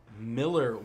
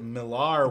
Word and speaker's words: Millar: Netflix Netflix purchases the millere world which by the way a lot of people pronounce it Millar because AR because mi ll AR but apparently he has said in several interviews it's just Miller I don't know what's